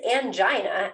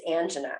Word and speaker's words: angina: of this word so it turns out it is angina actually probably in Europe and in England but the American form of the word is angina so Tomatoes Tomatoes you